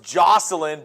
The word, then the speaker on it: Joycelyn: Alan, it's pronounced Jocelyn, but it's spelled Joycelyn.